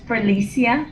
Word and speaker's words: Felicia: have done that um florissa floresia how do you say your name sorry i'm really bad at pronouncing names it's pronounced felicia felicia okay cool would you